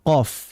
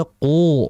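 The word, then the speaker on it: ق: Contoh misalkan dalam membaca huruf ee qof gitu ya. Qof itu kan dibaca qo seperti itu, tidak dibaca qu.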